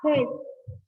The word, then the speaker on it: Hertz: Nah, bacanya adalah Hertz. Bacanya apa? Miss. Hertz, bukan Hz sayang, Hertz ya.